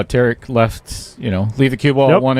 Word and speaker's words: Tarek: He was giving me a really good drill to, how Tarek left, leave the cue ball at one end,